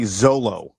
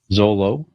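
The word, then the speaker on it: Xolo: the actor's name yeah I'm gonna say Zolo Zolo right is that is that how you pronounce that I think I think that's right yeah x-o-l-o Zolo yeah Zolo um uh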